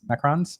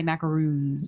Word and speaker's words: macarons: It's like an American thing to say macaroons. They're Yeah. not macaroons. They're macarons.